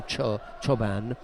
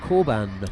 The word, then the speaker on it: Çoban: Çoban is a Turkish name, and that's how you pronounce C-O, Çoban. But in Germany, it's Korban. Oh, really? Almost like K.